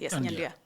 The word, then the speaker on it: Nyandia: I mean, there is, you know the problem I'm having, Nyandia. Yeah. That's how it's pronounced, right? Yes, Nyandia.